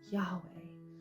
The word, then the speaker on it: Yahweh: they try to then add some vowels with it Yahweh which is just an easier way to try and pronounce the yhwh which is Yahweh Yahweh which I think